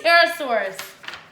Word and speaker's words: Pterosaur: I said it right, Pterosaurus.